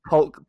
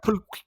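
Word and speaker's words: pulque: I think it's pronounced polk Polk, or polka, Polk rocker. but I like pulk.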